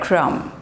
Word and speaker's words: crumb: not climb climb lamb lam next is bread crumb bread crumb bread crumb now look at these